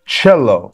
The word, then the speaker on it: cello: everyone look for example in cello letter C is pronounced as CH or Meto okay or